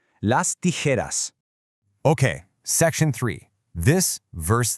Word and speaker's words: tijeras: The sharp J sound, which is pronounced like an H in Spanish, almost mimics the sound of snipping paper, right? Las tijeras.